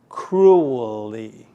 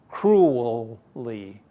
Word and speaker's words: cruelly: Whoa, I imagine for any Chinese, cruelly is a hard word to pronounce. Let's try it. You say it after me. Cruelly. Whoa. In our Chinese area, we don't like to say L sounding words. It sounds more like R, okay?